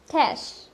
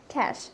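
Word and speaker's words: cache: সো the word here is ক্যাশ, ক্যাশ নট ক্যাশে, আমরা অনেকে এটাকে ক্যাশেই বলি আর ক্যাচেও বলি, সো ইটস ক্যাশ, ক্যাশ,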